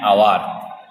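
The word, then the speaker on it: hour: কিছু কিছু শব্দ আছে যেগুলো এইচ দিয়ে শুরু হয় কিন্তু উচ্চারণটি অ বা আয়ের মতো হয়, তাদের আগে অ্যান বসে।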